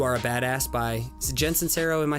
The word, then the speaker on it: Sincero: And you mentioned a good book not too long ago, You Are a Badass by Jen Sincero. Am I saying it right? Yeah, Jen Sincero.